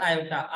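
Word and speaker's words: iota: Greek alphabet होता है, उसको बोला क्या जाता है? आयोटा, IOT। तो ये जो आई होता है वो क्या होता है? ग्रीक अल्फाबेट होता है। इसको क्या, इसको जिसका एक्सेंट या प्रोनाउंसिएशन क्या होता है? आयोटा।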